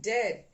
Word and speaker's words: dead: looks like beard and dead it's said like bed not beed for goodness sake don't call it deed watch out for meat